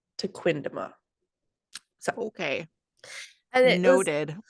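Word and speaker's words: Tequendama: Taquindama Falls.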